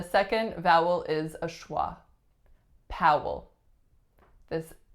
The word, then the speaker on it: Powell: Coleman Coleman next one Powell Powell same vowel sound as in Howard so it's out and then the second vowel is a schwa Powell this L at the